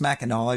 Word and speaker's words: Mackinac: It's pronounced Mackinac, even though it's spelled Mackinac.